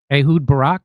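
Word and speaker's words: Ehud Barak: They are blackmailing uh uh uh the Israeli former Israeli prime minister uh Ahood Barack, that's how you say his name.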